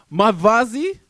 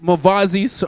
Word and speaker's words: Mavazi: Yo, and it's called, how do I pronounce this? It's called Mavazi. Shop at Mavazi, or let me do this again.